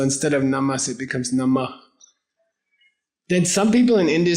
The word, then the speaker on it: Namah: Namah. Namah. N-A-M-A-H. H at the end.